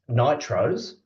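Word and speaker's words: NTROs: um as it produces non-traditional research outputs which um in in Australian accent is pronounced Nitros um the opportunity to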